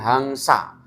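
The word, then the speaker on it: haṃsa: Kemudian ada titik atasnya di huruf M itu bacanya ang. Jadi hangsa.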